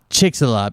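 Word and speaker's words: Chicxulub: a drawing of it's uh it's this i'll spell it chicks uh chick it's chick ax ulub chick's a love it's the name of a uh crater that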